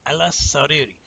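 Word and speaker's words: على السرير: So if it's Ayla and the first letter is a sin, you're going to say Aylas because you're going to pronounce the first sin, right? What you're doing is this. You know it's double. So when it's a sun letter, you're going to take one of those S's, one of those sins, and keep it with Ayla. And you're going to say Aylas as one syllable.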